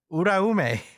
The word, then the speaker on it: Uraume: Uraume. Uraume. No, like roll the R. Uraume.